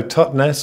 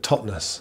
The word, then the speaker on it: Totnes: Some people say so Totnes, or but people who are properly from this place call it Totnes.